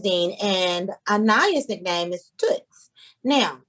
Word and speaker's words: Tuts: for so long but when i spell it t-o-o-t-s everybody say toots she's like it's not